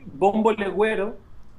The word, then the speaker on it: bombo legüero: You said you would be able to show me the bombo leguero. Is that the way? Am I pronouncing it right? And bombo, it's a percussion instrument. Yes, it's called bombo legüero.